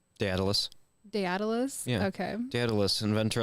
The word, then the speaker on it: Daedalus: Also, do you know how to pronounce Icarus' dad's name? Daedalus.